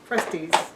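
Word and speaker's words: Krusteaz: this package of crusty, how do you say that? Crusties. Crusties. Not Krusty the Clown.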